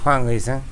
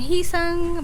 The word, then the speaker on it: UiSeung: the one who can't pronounce it very well, they call him Heesung.